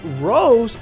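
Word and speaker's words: Rosé: So Rose is not actually how you say it, it's Rose. So Super Saiyan Rose with an accent over the E.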